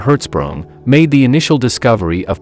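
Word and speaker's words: Hertzsprung: gets smaller Danish astronomer edner herzsprung pronounced in herzsprung made the initial discovery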